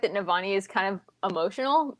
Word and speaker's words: Navani: Is it Navani? Is that how we pronounce it? I can never figure out how to pronounce her name. Navani.